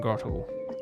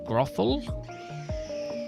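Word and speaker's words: Grotle: And then this year I got him Grottle. I don't know if that's how you pronounce it, that's how I pronounce it. This is Grothel? No, it's Grottle.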